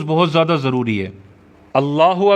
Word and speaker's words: اللہ: بہت زیادہ ضروری ہے۔ اللہ اکبر جیسے ہم نے پہلے پڑھا تھا، اللہ پہ زبر پڑھنی ہے، کھڑا زبر نہیں ہونا چاہیے، اکبر پہ زبر پڑھنی